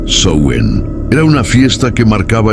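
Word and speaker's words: Samhain: Antes de ser llamado Halloween existía una celebración celta llamada Samhein. Se pronunciaba Sen.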